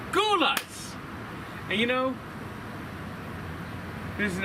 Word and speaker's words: Gulla's: So, I'm going to give this a single You know, Mia Copa, I've been saying this name wrong. It's not Gulla, it's Guls.